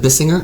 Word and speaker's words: Bissinger: Buzz, I think you pronounce it Bissinger. Like, it's kind of like, Bissinger, Bissinger, Bissinger or Bissinger.